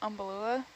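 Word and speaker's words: Umbellula: Maybe another umbalula.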